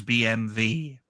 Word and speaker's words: BMW: That's why BMW in Germany and Austria is BMV, because it's their language.